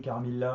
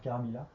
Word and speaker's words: Carmilla: avec Dracula, Carmilla aussi qu'on peut prononcer Carmilla indifféremment. D'ailleurs, c'est peut-être même plus logique de dire Caramila par rapport au travail anagramatique que fait Lefan dans son roman par rapport au aux autres incarnation de son vampire.